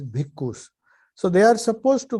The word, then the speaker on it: bhikkhu: Actually, it is bhikshu, but they pronounce it in Pali as bhikkhus.